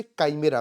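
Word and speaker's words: chimera: क्या बोलते हैं इसे? काइमेरा। प्रोनाउंसिएशन ध्यान रखिएगा।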